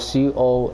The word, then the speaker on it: collegiate: It sounds like Colgate. It's literally spelled C-O-L-L-E-G-I-A-T-E. And it looks like it's Colgate in shape. But it says collegiate.